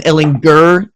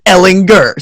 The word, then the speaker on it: Ehlinger: him and say, it's Sam Ehlinger with a hard G. And that's how we all learned that the man's name is Ehlinger. So forever hard G for me.